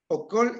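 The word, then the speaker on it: óokol: En la penúltima palabra, okol. Okol es entrar. Pero si yo leo okol es robar. Entonces, una es con vocal larga y la otra es vocal corta.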